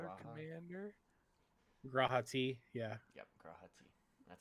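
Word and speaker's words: G'raha Tia: Yep, Grahati.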